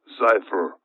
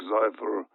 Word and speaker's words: Zyphr: project pogo is one of them and project cypher i will spell that one z-y-p-h-r project pogo and project xifer are the two projects that the classified documents